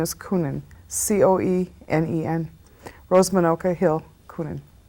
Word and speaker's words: Coenen: is my maiden name my married name is kunin c-o-e-n-e-n rose manoka hill kunin all right and what's your date of birth november 1st 1947.